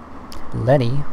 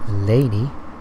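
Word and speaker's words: Leni: telephone call for him lenny or as other people pronounce it laney i mean i've been saying lenny this entire time so i'll keep saying i feel like laney is probably more accurate yeah it's like they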